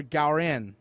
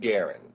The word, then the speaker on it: Garin: Are you Garin or Gowin? It's pronounced Garin.